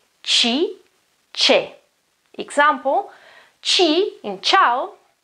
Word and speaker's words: ciao: Example, chi in ciao, ciao, it's not cow, it is ciao, okay?